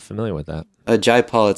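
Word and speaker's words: Jai Paul: artists that I'm not familiar with that a Jay Paul it spelled like j ai pa ul and he also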